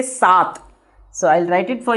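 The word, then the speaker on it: सात: Now again here I am warning you. Sat. It is a th. It is not a th. Many people, many foreigners or the many people who comes from the South India, they call it as a sath.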